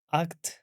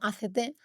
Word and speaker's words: ACT: que se pronuncia efectivamente ACT y no ACT, porque justo en inglés significa actuar y al final la